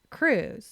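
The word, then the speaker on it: krewe: because Civic groups called Cruise make it happen yes Cru which is spelled k r Wes started out as secret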